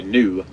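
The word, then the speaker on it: gnu: pool of the Beast it's actually new and it's spelled g and U they get the name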